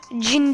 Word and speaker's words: Gene: Bu arada Brawl Stars'ta Gene diye bir karakter var. Cin diye okunuyor.